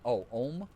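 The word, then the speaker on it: Ogham: Uh, Agam pronounced more like Oh, M in modern Irish.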